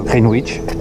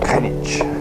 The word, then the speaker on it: Greenwich: On a envie de dire Greenwich. Apparemment, ça se prononce Greenwich.